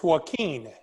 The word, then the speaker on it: Joaquin: Is it It's Joaquin. Joaquin? You know, like Joaquin Phoenix?